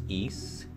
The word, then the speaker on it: Ys: With this time I'm playing how I believe it's supposed to be pronounced Yeast, Chronicles.